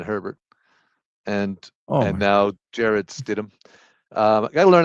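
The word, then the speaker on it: Stidham: Uh, you know, and Justin Herbert and and now Jared Stidum. Um, I got to learn how to say his name. Is it Stidum or is it Stithithm? It's Stitm, right?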